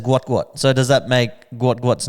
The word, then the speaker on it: Gout: So, does that make Guat's name Gu first name and last name is the same? I I'm going to go with a yes on that. Sorry. There you go. Sorry for calling you Gout Gout.